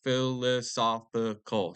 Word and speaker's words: philosophical: that conclude conclude that a lot now women, dolphins, and warriors are people in a philosophical It's a hard word, so philosophical. So we got five syllables.